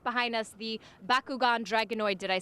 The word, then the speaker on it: Bakugan Dragonoid: world I your truck right behind us the Bakugan Dragonoid did I say it correctly you did you